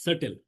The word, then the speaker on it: subtle: This word is subtle. Don't pronounce sub.